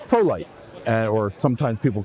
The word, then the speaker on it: Prolycht: I also worked with a company called Prolycht, or sometimes people pronounce it Prolycht because of the way it was spelled, Germanic spelling.